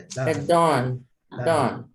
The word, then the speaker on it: done: É done. Esse O puxando para o A, tá?